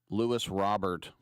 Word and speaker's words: Luis Robert: I always say it like he's French. Louis Robert.